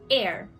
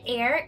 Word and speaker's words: heir: and the first men air and air is a person legally entitled to a person's property or rank on that person's death so when that person dies notice that the H is silent so for example Prince